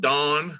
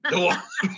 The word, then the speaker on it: Dwan: Actually, people from the South add a syllable. It's Dwan. Dwan.